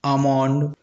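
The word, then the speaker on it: almond: उसी प्रकार पाम अमोंड इन सभी वर्डों में एल के बाद एम आ रहा है और एल साइलेंट हो जा रहा है।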